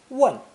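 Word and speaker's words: 問: this phonosomatic compound is pronounced fourth tone one it means to ask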